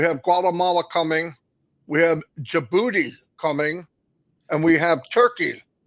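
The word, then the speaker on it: Djibouti: Guatemala coming we have jibuti coming and we have turkey you said it right yeah I always want to say the D but Robin Robin told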